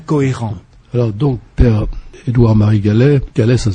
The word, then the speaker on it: Gallez: Alors donc, Père Édouard-Marie Gallet, ça s'écrit G-A-2-L-E-Z.